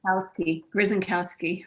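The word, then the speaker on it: Grzankowski: Could you pronounce that name for me, please? Grzynkowski. Grzynkowski. Thank you. I think I can do that. Schenkowski.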